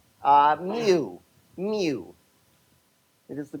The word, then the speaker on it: mu: It is the Greek letter mu not to be confused with moo. And um just to attach to to something that you will always have right, it is of course uh the same pronunciation of as the Pokemon Mew, not Mewtwo, Mew Mu.